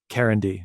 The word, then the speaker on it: Karindy: It's Karindy, right? Yeah, you said it perfect.